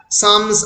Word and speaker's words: Psalms: to Brocklehurst that the Psalms are not interesting. Jane বলল Psalms, P-S-A-L-M-S, P এর pronunciationটা unpronounced রয়েছে।